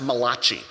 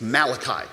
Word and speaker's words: Malachi: book it's the book of Malachi it's not pronounced Malaki it's Malachi all right and Malachi tells the people that